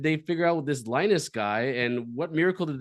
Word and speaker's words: Linus: Linus. Oh, just like in Charlie Brown.